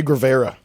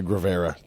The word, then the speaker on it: Guevara: Che Guevara. Guevara, I think. It's like Gruyere cheese.